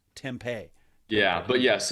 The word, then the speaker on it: tempeh: to hear more about this uh so temp Tempa is that how you said it fermented soybeans yeah usually it's pronounced tempeh tempeh yeah but yes it's made from fermented soy